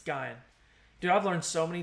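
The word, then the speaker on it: Guion: That is pronounced Guyan. Okay, so it's not Guyan, it's Guyan.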